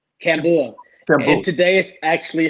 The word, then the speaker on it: Kambua: Kabuya? Kambua.